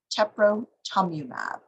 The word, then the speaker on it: teprotumumab: eye disease to increase the inflammation and algae pronunciation of that is teprotumumab here is just a slide that shows exothermics